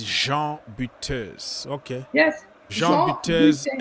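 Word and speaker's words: Jean Butez: So the real way to pronounce it is Jean Buteus.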